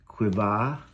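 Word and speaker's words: קוה: And the word that is most often used for hope is the Hebrew word, which is pronounced quivah, which is transliterated QWH.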